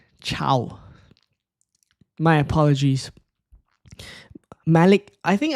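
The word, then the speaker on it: Thiaw: Not having a go at you, but I think Theo is pronounced as Chow. Also, it's Chow.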